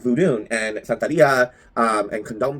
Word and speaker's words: vodun: Sania and Voodoo um specifically vood not voodoo um but vodun and santaria um and